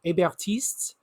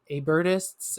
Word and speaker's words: Hébertistes: So within the Mountain, there were the Hébertistes and the Dantonists, right? So Hébertists and Dantonists, if you don't know how to pronounce it in French.